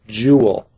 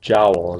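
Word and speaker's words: joule: this has been renamed the jewel after a guy named Sir Robert jowel is actually how it was supposed to be pronounced that's abbreviated with a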